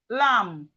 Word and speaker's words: lamb: So as we can see, whenever we see M and B in a word, the B is silent.